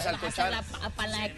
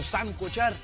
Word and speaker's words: salcochar: ¿Es salcochar o sancochar? Es salcochar. De sal, viene de sal, salcochar.